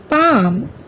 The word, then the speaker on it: palm: থাকে শব্দবিলাক হ'ল কাম here L is silent palm half walk talk should good what have you seen in these words here also L remains silent calf chalk fork almond